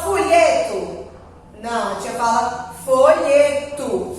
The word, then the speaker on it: folheto: Esse O aqui, a gente pronuncia com som de U. Por quê? Porque a sílaba tônica, a sílaba forte dele é o folheto. É o lhe. Então, não foi a última sílaba. Se fosse a última sílaba, eu pronunciaria com um tó.